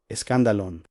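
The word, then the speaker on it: σκάνδαλον: La palabra es scandalon, se pronuncia escandalon.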